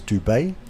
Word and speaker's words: Dubet: I was talking to Shay Vich this morning um and he believes the correct pronunciation of Dominic's name is Dubet. So Dominic Dubet, my apologies for calling Dominic Doo across the first uh day and a half, but